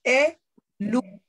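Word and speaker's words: è l'una: Ripeto, e quando leggiamo parole che hanno l'apostrofo, la leggiamo come se fosse un'unica parola, no? E luna.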